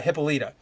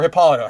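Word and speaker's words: Hippolyta: given Life by uh hippolita or hippolito however you want to pronounce it either way it's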